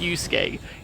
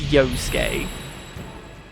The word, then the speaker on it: Yosuke: between you and yosuke because i know how to pronounce his name and it's not pronounced yusuke it's yosuke isn't seen as a